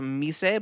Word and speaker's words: Mise: There's a tool called Mise, but it's pronounced Mis.